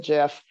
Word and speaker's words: GIF: the 90 10 rule is everybody okay if i continue to call it gif all right i'm just going to do that unless somebody screams stop it andy pronounce it jiff how to connect two